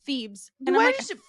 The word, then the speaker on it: Thebes: then of course the teacher's like it's actually pronounced Thebes I knew it she say something beforehand why